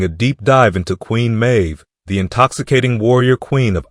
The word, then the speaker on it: Meadhbh: Well, on screen now you'll see some of the various Celtic spellings of her name, however the pronunciation is the same, Mave.